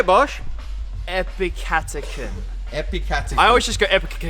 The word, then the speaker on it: epicatechin: to help you guys out ap chapter can epicatechin say it with me epicatechin say bosch epicatechin epicotyl i always just go it's just like